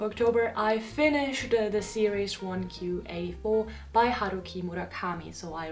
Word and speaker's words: 1Q84: you were wondering why 1q 84 Q is the Japanese pronunciation for the number nine as well as the